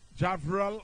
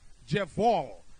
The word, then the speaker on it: Jeval: So it's going to be Javral. What am I pronouncing this? Jeval. So it's Jeval, Jasmine.